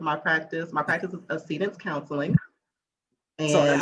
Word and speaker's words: Accedence: And Accede has a meaning, for me, and people call it accidents. It's not pronounced accident.